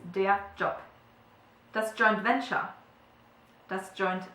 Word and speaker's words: Job: happens as well so whenever there is a b at the end of a German word it's pronounced like a p okay so it's de job that's joint venture that's